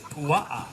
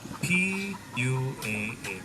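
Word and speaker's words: puaʻa: Pig in Hawaiian is pua'a, P-U-A-A, pua'a.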